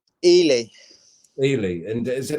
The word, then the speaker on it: Ely: Is it pronounced Eli? Ely, Ely.